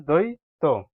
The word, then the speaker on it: দ্বৈত: বফলা ঐকার ত দই তবে উচ্চারণ করবেন আমি লিখে দেখাই আপনাদেরকে দ দ্বৈত দ্বৈত বফলা উচ্চারণ হবে না এখানে দ্বৈত ঠিক আছে বন্ধুরা এরপরের